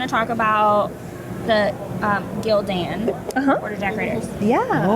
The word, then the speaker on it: Gildan: true story bro and they combine the names together so that's how you know how to pronounce it it's Gildan I always think of Lieutenant